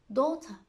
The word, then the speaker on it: daughter: A combination of GH is usually silent after a vowel sound. A combination. Daughter, high, way, thought, bright.